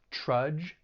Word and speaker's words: trudge: it's just one syllable that d g has that J sound similar to the word judge these are rhyming words trudge judge the other other thing